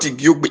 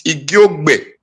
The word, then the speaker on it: Igiogbe: It's not Igiogbe, it's Igiogbe.